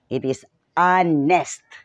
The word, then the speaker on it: honest: Although sa pagkaintindi ko ang pronunciation niya na honest, it's without an H. It is honest.